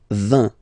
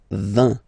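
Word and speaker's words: vingt: And the last one, so this G letter is here, but you don't pronounce it, okay?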